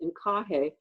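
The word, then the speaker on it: INQAAHE: And there's an international organization, the acronym is pronounced INCAHE, and it stands for the International Network of Quality Assurance Agencies in Higher Education.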